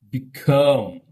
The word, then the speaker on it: become: Become.